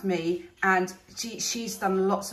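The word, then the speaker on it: Mii: her YouTube channel um her surname is spell spelled m double I um but pronounced me and she she's done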